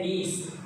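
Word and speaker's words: niece: नेफ्यू भतीजा या भांजा, और नीस, कुछ इसको नाइस बोलते हैं, नाइस नहीं है, ये है नीस।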